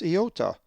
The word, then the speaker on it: iota: The ninth letter of the Greek alphabet and fourth vowel is the upper and lowercase iota, which is always pronounced as E in C.